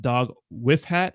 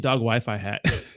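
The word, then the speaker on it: dogwifhat: all by the way I think it's pronounced dog with hat oh okay okay I got it dog wh hat ah thank you so much rhymes with cray dog wh hat I keep saying dog Wi-Fi hat you're welcome G Bunny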